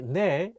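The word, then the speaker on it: 네: say igo nekoya nikoya so basically ne is sometimes pronounced ni in spoken korean because it sounds very similar to ne meaning mai but remember even though many people pronounce ne as ni make sure to use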